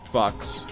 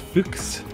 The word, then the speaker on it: Fuchs: Apparently, you're a very French fox. We I got caught again, but I did it for a good reason. I got a door open for you, maybe. Pronounced Fuchs, not Fox.